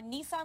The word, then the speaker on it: Nissan: call you Lisa yes call me Lisa or Nissan like the car off like a light that's definitely how do you pronounce it Lisa Nissan here great to have